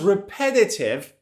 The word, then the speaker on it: repetitive: The sound was repetitive and annoying. Pay attention to the pronunciation. Repetitive. Repetitive. Stress is on the second syllable.